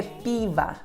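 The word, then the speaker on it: пиво: palavra e descobri que a sílaba tônica é a primeira pe pe que acontece com o segundo a sílaba com são o LC torna a então a pronúncia da palavra é Piva Piva Piva ok a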